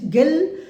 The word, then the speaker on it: Guille: इसमें आपको बताएंगे कि गिल, आप लिखिए पहले GUILLE गिल, इसमें यू साइलेंट है तो इसको गिल बोलेंगे आप, GUILLE गिल versus swan SWAN, balloon case.